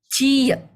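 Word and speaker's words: 지읒: Jiet. Ya, jiet. Ini juga sama kayak S tadi. Kalau misal dia di depan, bacanya J. Tapi kalau dia di bawah, bacanya T.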